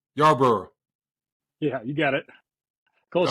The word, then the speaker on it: Yarborough: Yarborough.